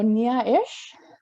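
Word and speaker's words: Néá'eše: our future generations so nia ish which is how you say thank you in cheyenne um i just wanted to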